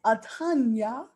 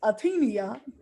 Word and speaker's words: Atanya: Miss Atanya. I thought it was Atenia. It's Atanya.